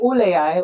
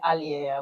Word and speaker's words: Alle AI: You can call it all AI or you can call it Alle AI. We've given customers the choice to pronounce it the way they want.